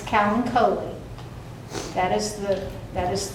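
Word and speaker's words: Kalanchoe: who you're talking to a lot of people pronounce it colano it's Callen COI that is the that is the correct pronunciation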